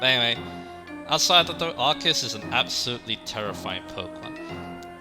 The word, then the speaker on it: Arceus: And yeah, before we go on, yeah, there's a lot of people who pronounce like Arceus in different ways. I've heard Arceus as well, but Arceus is what I go with.